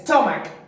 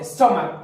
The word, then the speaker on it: stomach: Entonces el sonido final no es una Ch, una Sh, una X o una S, sino una K, pues chicos, es una K.